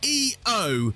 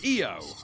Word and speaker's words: EO: EO, which I believe is still pronounced EO in its native Polish, but is spelt IO in Polish.